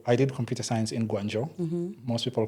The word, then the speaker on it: Guangzhou: So I did computer science in Guangzhou. Most people call it Guangzhou. But just for the people out there, ZH always is pronounced as J in Chinese. Yes. So which makes it Guangzhou.